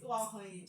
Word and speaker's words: Uwakhonye: And one thing interesting about my surname is that you actually need to smile to get it right.